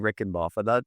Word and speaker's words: Reichenbach: But if you know phonetics at all, Craig, the last name Rickenbaugh, phonetically it's Reichenbach.